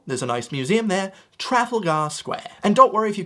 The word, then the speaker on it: Trafalgar Square: to get this right, but I'm here to pronounce it correctly for you. Trafalgar Square. It's where you can find Nelson's column. There's a nice museum there. Trafalgar Square.